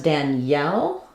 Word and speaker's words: Danielle: And then because Danielle is stressed on the second syllable, we have a clear vowel there. So instead of the EL becoming a yul, reduced vowel, unstressed, we have Danielle, Danielle, Danielle. So the E keeps its sound here, like in red, Danielle.